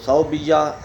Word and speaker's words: ثویبہ: لکھا جاتا ہے۔ تو صوبیہ، سا کے اوپر زبر، واو کے اوپر جزم، با کے نیچے زیر، یا کے اوپر تشدید اور زبر آخر میں ہا۔ ایک تو اس صوبیہ